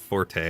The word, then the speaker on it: Forte: Usually that's pronounced forte, I believe, but you know, that's funny. I'm so used to seeing that as forte anyways because of base in Mega Man. Otherwise known as forte.